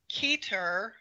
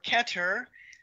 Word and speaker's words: Keter: shattered and it was up to keer or keter people pronounce it different ways who is also Adam